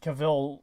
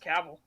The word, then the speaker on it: Cavill: head new oh apparently apparently i'm pronouncing kavil's name wrong i think it's just cavil cavil yeah all right henry